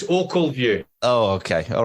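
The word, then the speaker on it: Ochilview: I think you'll find it's Ockleview.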